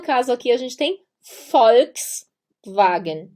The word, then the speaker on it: Volkswagen: aqui a gente tem Volkswagen e sim tem o som de f o J se pronuncia